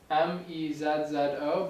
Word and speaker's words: mezzo: So it's spelled mezzo, M-E-Z-Z-O, but most people pronounce it mezzo with like kind of a T-ish, like mezzo piano, mezzo forte.